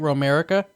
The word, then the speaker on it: Romerica: i guess right that's how you say it romerica exactly all right well i mean that's interesting